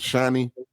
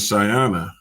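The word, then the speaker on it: Shaiana: Is it Hers is Shiny? No, hers is Shyana. Like, okay. Her name is spelled S H A I A N A. Like Shy Anna.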